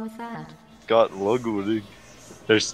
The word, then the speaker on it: Ludwig: Dude, apparently, this streamer, Ludwig, said, told the story of his childhood where he got mercilessly bullied because of his name, because it's French and it's pronounced Ludwig with a V.